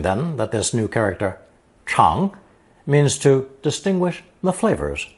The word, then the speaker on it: 尝: It's pronounced second tone, chang, chang, and means to taste, try, or experience something.